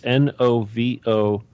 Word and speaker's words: Novorossia: But let me spell it out for everybody because it's not spelled like you would think. But it's Novorossia.